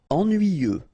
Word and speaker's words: ennuyeux: Ennuyeux. Okay, final X not pronounced, and then ennuyeux, ennuyeux. Facile.